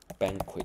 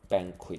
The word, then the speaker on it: banquet: 它很像呢？banquet，这个时候 t 就发音了，banquet，而且重音